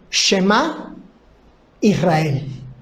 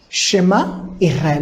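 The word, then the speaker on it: שמע ישראל: Este texto de Deuteronomio capítulo 6, verso 4, se conoce como la Shema Israel. Shema Israel. La palabra que estoy pronunciando por Shema en hebreo quiere decir oigan,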